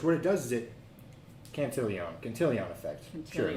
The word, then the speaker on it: Cantillon: and everything first, what it does is it Cantillon effect. Sure, maybe Cantillon. that's how it's pronounced.